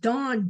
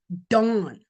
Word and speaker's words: Dan: Remember it's pronounced dawn. D O N D an dawn.